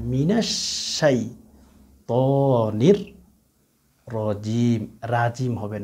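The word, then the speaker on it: رجيم: মিনাশ শাইতানির, মিনাশ শাই হবে না, মিনাশ শাইতানির রাজিম, রাজিম হবে না, রাজিম বলেন অনেকে, রাজিম হবে না, র হবে, রজবর র, রজবর রা হবে না, জিম হবে না, জিম, রজিম, রজিম, রজিম।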